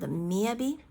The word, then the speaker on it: Miyavi: Like I felt when I heard this person, this very famous singer called Miyavi, that instead of B but V, okay, Miyavi.